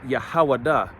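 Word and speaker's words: יהודה: says Judah okay Judah when you go to the Hebrew Judah is pronounced yahawada which means yahuwah thanks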